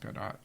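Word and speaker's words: Gadot: I think so no as she said is pronounced gdat is it gdat yeah I like GD better I know it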